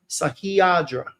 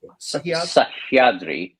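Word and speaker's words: Sahyadri: This is uh Sahiadra is pronounc Sahiadri.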